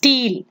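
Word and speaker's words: stele: steel அப்படின்னு நம்ம சொல்றோம். That is how it is pronounced.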